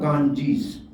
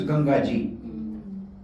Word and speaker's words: Gangaji: It is exactly like the water of Ganges. Actually, the word is Gangaji. But British could not pronounce Gangaji, they said Ganges. So we still say Genji. It should be Gangaji.